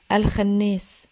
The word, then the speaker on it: الخناس: الخناس هنا اتفقنا ان الخاء دائما مفخمه يعني ما ينفعش اسمعها بتتقال الخناس لا الخناس الخاء مفخمه في تنطق مفخمه وانون في الخناس مشدده